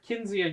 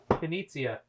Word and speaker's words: Knizia: And they're Rainer Kinzia games, so Knizia. I never say his name right.